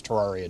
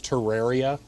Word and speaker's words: Terraria: Yeah, I am aware that the correct pronunciation is terraria. Um, and while I appreciate the concept of it being laid out like a terrarium, um, tough I'm going to pronounce it terraria.